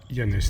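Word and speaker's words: Llanes: Mais les personnes parlant couramment espagnol savent évidemment que de L ça se prononce. Donc voilà Yanes, nous voilà.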